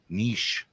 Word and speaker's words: niche: as they told me I pronounced wrong all last night niche um they're taking an already Niche segment and dissected it eight ways to Tuesday how are you supposed to say it I was saying Niche Niche Niche I